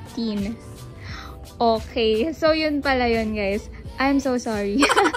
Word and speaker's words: TIJN: and i wear anyway it is not pronounced as tij and it is pronounced as teen okay i am so